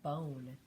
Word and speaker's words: bone: And so this is the word bone. And without that silent E, it says B, on. But now this silent E is changing the sound of that O and making it say B, own.